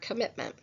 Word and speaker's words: commitment: And although there are the two M's in the spelling, we don't say the M sound twice. It's only one phone if we phonetically transcribe the word commitment.